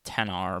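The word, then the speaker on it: iPhone XR: not the tennis or the XR which is actually pronounced 10 R but you know after after after having it to Train XR HVAC units I don't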